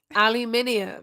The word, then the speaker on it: aluminium: actually have no idea it's like how you say aluminum and it's like you're missing like several letters in that aluminum you no you add you add a bunch of letters aluminium there's too many we don't spell it